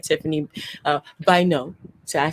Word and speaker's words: Bynoe: a lot of amazing people, just like Tiffany, Bynoe.